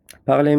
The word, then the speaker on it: parler: There is a verb called parler. Parler means to talk in French. So this is a verb, parler. Okay? That's how we pronounce it. R at the end we don't say.